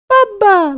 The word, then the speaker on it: Bubba: That's how you gonna say his name. Bubba. Like mama. Dada. Bubba.